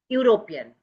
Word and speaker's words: European: Even before vowel sound which do not have vowel sound you see European European it is begins with e u r o p european. So here it begins with e but the vowel sound doesn't come.